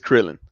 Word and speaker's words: Krillin: Like, Klil, Klilin. However you pronounce that right there. Klilin. Klilin. Krillin. I don't know. It's Krillin.